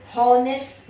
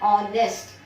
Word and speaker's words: honest: हम इसका pronunciation हॉनेस्ट नहीं करते, इसका प्रोनाउंसिएशन क्या है? ऑनेस्ट. ऑनेस्ट मैन. H जो है वो साइलेंट है, सेकेंड अल्फाबेट O है.